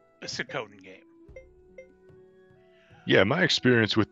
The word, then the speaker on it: Suikoden: If you like Sakoden games, this is Sakoden. It plays more like it. There are Sakoden titles. Sikoden is, I believe, the correct pronunciation, but fuck that.